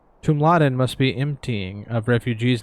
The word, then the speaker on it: Tumladen: Tumladen is how they pronounce it.